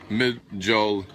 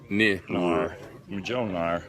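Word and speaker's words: Mjölnir: And correct spelling is Mjolnir, pronounced Mjolnir. Mjolnir.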